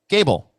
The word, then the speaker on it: Gable: Gable. Also rhymes with table.